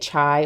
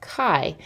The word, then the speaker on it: chi: you are pronouncing it chai or Qi or shy because that's what it might look like but it's actually the Greek letter pronounced Chi and the symbol for